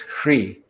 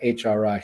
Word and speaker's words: Hri: And then the syllable is Hri, like HRI, Hri.